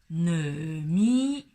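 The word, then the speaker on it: 糯米: 第三个词语是糯米，糯米。好，注意这里糯跟男女的男的发音是一样的，糯。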